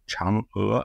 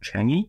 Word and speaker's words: Chang'e: The name of the Chinese moon lander program is pronounced Chang'e, not Chang'e, because that's the place in Singapore, but it's pronounced Chang'e, like an ER with an upward inflection.